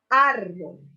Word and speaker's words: árbol: Árbol. Aquí también vemos que la mayor intensidad de voz está sobre la sílaba ar, siendo la tónica y la átona la sílaba bol.